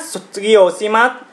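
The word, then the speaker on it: 卒業します: Các bạn chú ý nhé, sotsugyo shimasu. Các bạn chú ý cách phát âm của chữ sư này để chúng ta không bị ngọng nhé.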